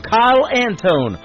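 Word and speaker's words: Kile Antone: I'll Be There Soon, the title of the third song from Kyle Antone on The Tim Kelly Show from KICR, Indie Country Radio, New Country's Best on Triple Play Thursday.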